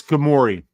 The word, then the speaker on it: Ghemmouri: I'm not gonna even pronounce that last name. Ghemmouri. Weezy got a better one for it. It's Ghemmouri.